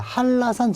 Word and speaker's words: 한라산: 발음은 한라산 이게 표준 발음이라고요. 왜? 니은과 리을이 만났잖아. 그럼 설치구만 일어나잖아요. 이게 설치구만 일어났으니까 한라산, 한라산 이렇게는 안 하니까 리을, 한라산. 그럼 어떻게 나와야 돼? 일단 HA 그 다음에 LL 왜? 리을, 리을이잖아요.